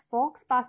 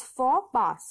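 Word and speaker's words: faux pas: for which means that the X and the S are silent both these letters are silent because it is a French phrase so you need to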